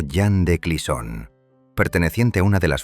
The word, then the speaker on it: Jeanne de Clisson: Allí vivía una mujer llamada Jeanne de Clisson, pronunciado Jeanne de Clisson, perteneciente a una de las familias más nobles y respetadas del reino.